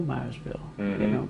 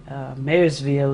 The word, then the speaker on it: Marysville: And now the people say they don't even know Myersville, because they just, Marysville is actually the pronunciation.